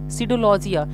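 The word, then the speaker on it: pseudologia: Okay, लिखा है सीडोलॉजी, सीडोलॉजिया, यानी वह व्यक्ति जिसको झूठ बोलने का लत हो उस व्यक्ति को बोलते हैं सीडोलॉजिया। यहाँ पे भले ही पी लिखा गया है बट वो पी साइलेंट है, तो आपको यहाँ पे भी ध्यान देना है।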